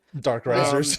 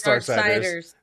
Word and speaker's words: Darksiders: Dark Risers. That looks Dark Risers. Dark Risers? No, it's Darksiders.